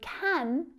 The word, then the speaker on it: can: Can is another extremely common English word that is often reduced when spoken quickly. So can becomes can.